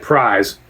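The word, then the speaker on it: Prys: It's spelled P R Y S, but pronounced like Prize.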